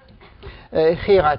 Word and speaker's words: Gerard: And Gerard is pronounced with the high G.